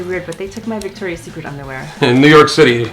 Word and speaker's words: Victoria's Secret: Victoria's Secret's, of course it's lace. You should know how to pronounce the name. It's Victoria's Secret. It's not Victoria's Secrets.